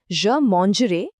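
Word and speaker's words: je mangerai: ए आई का साउंड बिल्कुल ए की तरह निकलता है।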